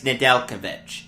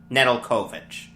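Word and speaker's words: Nedeljkovic: by alex nadelkovic and i think that's how he pronounces it not nedelkovich because i was listening to the hurricanes radio feed as i was coming back from yesterday's yankees game and they were pronouncing it nadelkovic not nedelkovich so look i think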